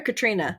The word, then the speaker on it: Catriona: that we know that Quentin and Would you pronounce it Catriona or Katrina?